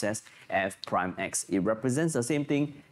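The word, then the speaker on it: f′(x): to be f prime x okay it is pronounced as f prime x it represents the same thing it is differentiating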